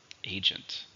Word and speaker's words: agent: 2 syllables, stresses on the first syllable. Agent.